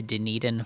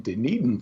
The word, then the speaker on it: Dunedin: okay we are in dunedin florida it's a it's a scottish name so it's not pronounced at all like it looks but dunedin is located on the